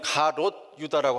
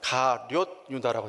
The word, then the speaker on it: 가룟 유다: 자, 보통 우리는 가롯 유다라고 하는데 성경을 자세히 보시면 가룟 유다라고 되어 있어요.